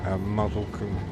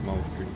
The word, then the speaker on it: Moulsecoomb: I know it's easy to pronounce it as Muzzlecombe, but it's not, it's Moulsecoomb. I'm reliably informed by people who live there, or have lived there.